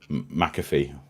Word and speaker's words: McAfee: sure is isn't it mcafe is that how you pronounce his name McAfee yeah either way the guy